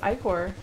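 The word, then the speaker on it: ichor: can filled with magical acre that's pronounced I Corps I use your iCore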